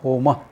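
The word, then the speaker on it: होम: Remember, when you are using a Sanskrit word, pronounce that A at the end of the word. That A that is there at the end of the word. Don't say Ram, Ramaha. Home, no, Homa. Short A, not long.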